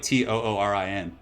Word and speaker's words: Turin: It's actually like Turin. They're like, you say it like kind of like Toorin, like Turin. Because if you say Turin, it's kind of, yeah, it's a little bit tricky phonetically, so.